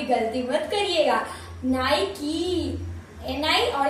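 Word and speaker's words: Nike: था निके होगा ये, पर निके नहीं है, ये है नाइकी, नाइकी, तो क्या है नाइकी, अब आप भी गलती मत करिएगा, नाइकी, एन आई और की चाबी वाला की, नाइकी ये वाला।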